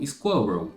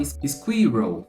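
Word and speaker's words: squirrel: aqui a pronúncia Inclusive a terceira palavra vai ser squ squel squel que é o Esquilo né É é muito comum inclusive que na hora que a gente tá aprendendo a pronúncia dessa palavra ou que a gente vê essa palavra e não pesquisa a pronúncia dela a gente fala squir squir squir alguma coisa nesse sentido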